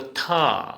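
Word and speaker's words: থ: इसको थ, हिंदी में हम थ बोलेंगे और असमिया में थो। असमिया में क्या बोलेंगे? थो। इसका उच्चारण हिंदी में ऐसे लिखेंगे थो।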